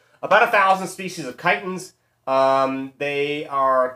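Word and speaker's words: chiton: give or take of Titans again please don't say chitin and notice when we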